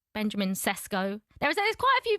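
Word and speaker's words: Šeško: Normally, I would love to like call me with my second name. So, like Shesho, but if it's a name, it can be Benjamin.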